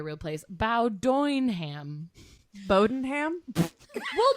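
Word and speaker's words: Bowdoinham: place bow doing ham bodenham well but this is how it's spelled before everyone judges me b-o-w-d-o-i-n-h-a-m bodenham is that's it bodenham but it looks like bow Downham there's also um an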